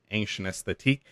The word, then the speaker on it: Ancienesthetique: It is Ancienesthetique, and that is ANCIENESTHETIQUE. That's like the French way of ancient and aesthetic, right? So that explains the spelling.